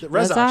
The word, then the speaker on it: Rezach: And we are joined by our friend and fellow ghost hunter, Rezach. Did I say that right? Rezach? Yeah, Rezach?